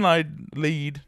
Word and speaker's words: Lied: So Elfen Lied. It's not laid. Not laid. Definitely not laid.